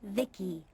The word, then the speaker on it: Vici: I'm Vici pronounced Vicki.